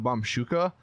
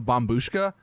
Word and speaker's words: Bombushka: either gonna be the bum Boosh go which apparently I've been saying it wrong this entire time I've been calling it the bomb shuka but I guess it's actually the bomb booshka so my bad on